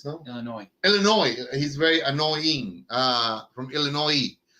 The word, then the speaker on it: Illinois: Illinois Yes. has You don't pronounce the S. Illinois, no? Illinois.